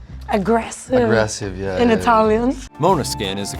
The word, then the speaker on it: Måneskin: and that one out and while often publicly pronounced like Mana skin or man skin that's incorrect it's the Italian mispronunciation yeah and it means like um aggressive aggressive yeah in Italian Mona skin is the correct pronunciation as explained by guitarist